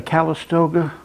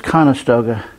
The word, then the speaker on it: Conestoga: family is going in there is that a calistoga wagon doing the oregon trail pronounced it wrong it's conestoga they do have some really nice early american